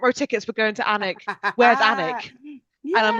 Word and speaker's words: Alnwick: I'm also going to say it's pronounced Alnwick. The L is silent, and people get really upset when you pronounce it wrong over here.